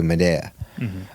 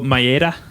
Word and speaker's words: Maeda: And Elio Gracie did not train jiu-jitsu while Master Carlos was training jiu-jitsu, learning it from Matsuhu Madea, if that's how you pronounce his name.